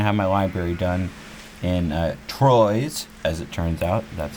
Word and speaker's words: Troyes: wasn't going to have my library done in Troyes, as it turns out. That's how it's pronounced, Troyes.